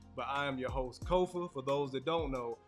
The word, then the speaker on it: Kofa: I am your host Kofa for those that don't know k-o-f-a not coffee not Khufu not Kofi or any variation thereof Kofa rhymes with sofa this is grow tall